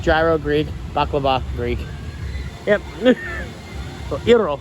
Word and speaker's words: gyro: Greek bakaba Greek yep iro is a correct way to pronounce it but Americans say Gyros worked for greeter about